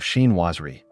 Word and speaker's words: chinoiserie: Today, we're diving into the enchanting world of chinoiserie, a style that blends the charm of Eastern artistry with classic Western glamour.